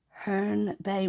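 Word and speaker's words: Herne Bay: Yeah, it's pronounced Hearn Bay.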